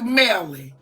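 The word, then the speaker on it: Mellie: And And would you pronounce it for the court? It's Nelly Queen. So I was right. So it is Melly.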